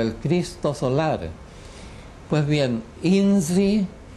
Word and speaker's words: INRI: Cristo solar Pues bien inzi eh pronunciado a la Serrana no inri como decimos habitualmente sino inzi eh con la r es ese tipo de r que existe en otras lenguas existe por ejemplo en